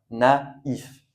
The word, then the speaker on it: naïf: Et pour le I, donc on prononce i et il faut bien faire attention dans les mots où vous le voyez, on prononce i. Donc comme dans ma is a i sien naïf.